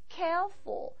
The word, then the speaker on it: careful: 자, 발음해보세요. careful, careful. 박자당 한 박씩 박자를 여러분 쓰면 careful 이러진 않거든요. care, air. 한 번에 나오는 소리들, 그러니까 에 띄고, 어 띄고 아니고요. air 이렇게 되죠? 하나, 둘, 2박자예요.